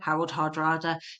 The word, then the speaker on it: Harald Hardrada: Harold Hardrada, but they're pronounced the same.